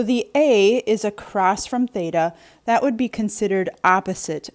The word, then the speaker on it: theta: here this symbol in this angle this is pronounced theta t h e t a theta and it is a greek letter it's